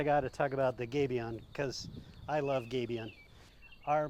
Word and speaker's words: gabion: And the people at Adobe will tell you I like to pronounce it gabion, like the French, because that's where it comes from.